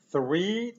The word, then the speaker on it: three: Ale w naszym słówku three jest bezdźwięcznie.